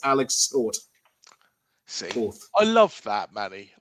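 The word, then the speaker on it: Tóth: It's Ferin Cabos, and I've also learned that the pronunciation of his surname is actually Toth, as in Bournemouth and Toth Liverpool a footballing lesson. So, it's Alex Toth.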